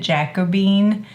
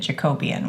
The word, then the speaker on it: Jacobean: a color called and he pronounced it jacobean I pronounced it Jacobian when I looked at it so one of those words I pronounce it jacobean yeah so that's what